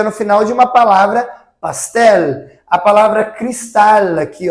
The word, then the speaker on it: pastel: O som, então, é pastel, pastel, e não com o som de U.